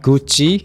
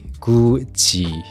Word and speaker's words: 굳이: No, not Gucci. 굳이. The pronunciation is similar.